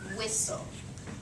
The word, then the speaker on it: whistle: blend down here and that t goes away and this just Blends together okay so we have our word whistle um first syllable wh second right keep that t silent okay um how about